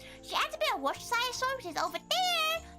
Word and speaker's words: Worcestershire: Worcestershire is really hard to pronounce. Worcestershire? It makes Tori sound so British when she says it. Worcestershire. Worcestershire sauce. Or what many call Worcester.